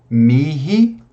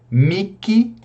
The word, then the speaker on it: mihi: Essas duas palavras eu posso pronunciar com o H aspirado, mihi ou nihil, nada, nihil. Nihil constat, nada consta. Veja, ou se não, eu posso pronunciar com o som do K, miki ou nikil, tá certo?